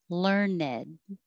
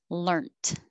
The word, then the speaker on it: learned: obsolescence obsolescence um 20 learned and it could also be an adjective and be two syllables learn ned and it could also be with the t learnt and we had to